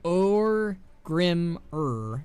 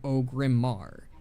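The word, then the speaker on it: Orgrimmar: I was pronouncing it Orgrimmer instead of Ogrimmar.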